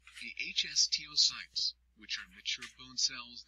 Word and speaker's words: osteocytes: Bone contains 3 types of cells: osteoblasts, pronounced osteoblasts, which make new bone and help repair damage; osteocytes, pronounced osteocytes, which are mature bone cells that help form